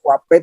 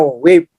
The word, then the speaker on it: wave: Ya, bukan wape itu wave, gelombang, wave, bacanya wave, bukan wape, ya.